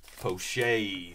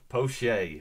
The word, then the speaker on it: Pache: Poche. Thank you, Thomas. I would have never guessed that. Poche.